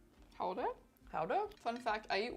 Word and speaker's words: Gouda: it's funny because you don't even pronounce Gouda like that in Dutch. Isn't it like Huda? Houda?